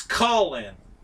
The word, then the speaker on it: Colin: He says it's Colin, as in Call, In.